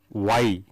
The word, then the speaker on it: Wye: One is called the star or Y. This Y means the shape of the letter Y, and because the circuit is in that shape, it is called Y and it is spelt as WYE.